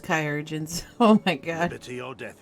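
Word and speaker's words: Chirurgeon: of us the the chirogens say i'm healing well so it won't be long now it's pronounced kyogen's oh my god your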